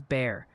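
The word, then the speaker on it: Bexar: is Lano, Humble is Umble, Beexer County is Bear, Grun is Green, Amarillo is Amarillo, but is but Marathon is Marathon.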